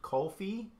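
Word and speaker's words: kulfi: I've made Indian dessert kofi I think I'm saying it right it's like K you LF I believe I've made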